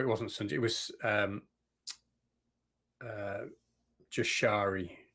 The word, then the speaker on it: Jashari: It was Jashari. How am I pronouncing that? Yashari is how it's pronounced.